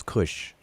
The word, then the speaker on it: Kash: autobiography of winnie that mentions kash which we which we pronounce as kush and it mentions all